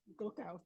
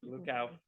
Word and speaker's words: Gluckauf: Gluckauf here. Did I pronounce her name correctly? That's fine. Gluckauf. Gluckauf Yes.